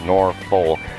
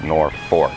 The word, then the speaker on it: Norfolk: It's spelled Norfolk, but everybody pronounces it Norfolk.